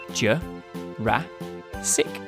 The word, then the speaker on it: Jurassic: ago in the mid to late Jurassic period Joe rah SiC so Brachiosaurus would have been neighbors with Stegosaurus